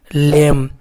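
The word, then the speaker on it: lame: तो ला का आधा, एल का आधा ला, ए का ए पढ़ते हैं, ठीक ना दोस्तों, और एम को आधा मा पढ़ते हैं, तो टोटल सब मिलके क्या हो गया? लेम।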